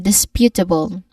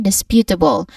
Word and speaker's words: disputable: All in all we get this um disputable again. disputable with clear stress on spew or pew. You avoid swallowing the end.